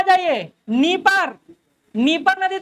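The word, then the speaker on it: Dnieper: हालांकि डी हटा देते, डी साइलेंट कर देते, नीपर बोलते हैं।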